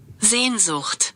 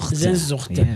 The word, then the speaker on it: Sehnsucht: And we know how to pronounce it the same way. So let's find out. But let's hear. Zandil. Sehnsucht. Sehnsucht. Sehnsucht.